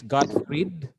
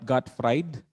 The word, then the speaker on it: Gottfried: and he is godfred wilhelm leibniz okay the pronunciation is god freed not god fried and a preto okay okay that's cut gottfried